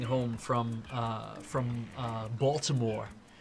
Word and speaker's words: Baltimore: from uh from uh Baltimore balmore I think that's how they say it balmore I spend 10 hours